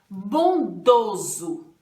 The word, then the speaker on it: bondoso: Aqui tem o som de Z, né? Mas bondoso é com S. Então, esse meu bondoso aqui, ele é com som de Z, mas ele se escreve com S e não poderá ser dois S's, só um S só. S com som de Z, um S só, tá bom?